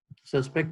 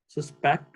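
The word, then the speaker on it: suspect: इसकी प्रोनाउंसिएशन में फर्क होता है. सस्पेक्ट हो तो ये वर्ब है. सस्पेक्ट जो है वो क्या होगा, वो आपका नाउन है. तो ये डिपेंड करता है उसकी प्रोनाउंसिएशन पे. उसका पहला सिलेबल अगर आपने प्रोलॉन्ग करना है सस्पेक्ट, तो फिर ये नाउन है. अगर इसका दूसरा सिलेबल लॉन्ग करेंगे सस्पेक्ट, तो ये क्या होगा, ये वर्ब होगा.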